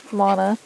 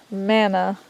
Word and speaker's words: Mana: It is actually mana and not manna. A lot of people pronounce it manna, but the Manna is the bread. manna is bread. Mana is actually the term for magic.